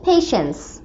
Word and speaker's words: patience: Sneha doesn't have any পেশেন্স। পেশেন্স মানে ধৈর্য, আগে এটার বানানটা দেখো, PATIENCE, ঠিক আছে? এই যে টি আছে না, এই টি এর উচ্চারণটা সাইলেন্ট হয়ে যাবে। পেশেন্স, পেশেন্স মানে ধৈর্য।